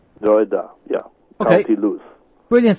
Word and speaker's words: Drogheda: I'm coming on the 14th and 15th of November to give this workshop in Ireland at how do you pronounce it again? Drogheda. Drogheda, yeah.